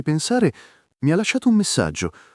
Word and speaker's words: pensare: Ci fai non separato e pensare con la e aperta, tipo pensare non chiusa.